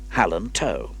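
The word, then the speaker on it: Hal-an-Tow: furry and the other howland toe how do you spell that elizabeth did so pronouncing toe to rhyme with no john listened carefully probably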